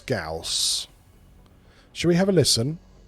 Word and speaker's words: Gauss: I won't so yes like I said Gauss get with it that's how you that's how you pronounce it yeah Gauss I should pronounce words